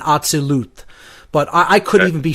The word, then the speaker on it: Atzilut: I would say if I were to give the correct pronunciations as closely as I know them to be, it's Asiya, Yetzirah, Bria, and Atzilut.